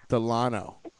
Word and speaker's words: Delano: spicy, sexy Latina porn star, Nikki Delano or Delano? How do you pronounce it? Delano.